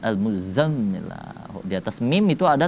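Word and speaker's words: المزمل: Huruf za itu agak ditekan, bunyinya lebih besar za. Kalau huruf za tipis, lidah di ujung gigi za. Kalau ini za. Al-muzammil, za kan, al-muzammil.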